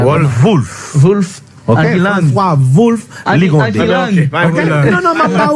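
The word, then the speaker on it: Wolff: WOL2F. Ça prononce comme ça. Wolf.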